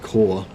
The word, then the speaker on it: corps: think that's an accident corpse is pronounced core yeah I thought so